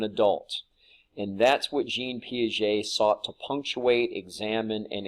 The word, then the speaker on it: Piaget: pictured here on the left Swiss psychologist Jean Piaget that's how you pronounce that last name and a lot of